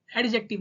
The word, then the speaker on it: adjective: एडजेक्टिव नहीं एडजेक्टिव। इसको हम एडजेक्टिव इसलिए पढ़ते हैं क्योंकि यहां पे जो डी है वो साइलेंट रहता है।